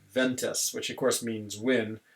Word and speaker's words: vent: Like, I remember seeing a sign as I was driving in Chile, and it said like ventas, which of course means wind, but in French we pronounce it vent.